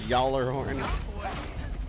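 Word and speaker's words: Gjallarhorn: not letting you anything the key to Norse name is that the first letter is the name are sometimes silent so golly horn is pronounced as yahlerhorn it's too much for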